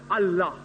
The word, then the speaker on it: Allah: They write it as I-L-A. But when you pronounce it, we have to tell them, pronounce it as Allah.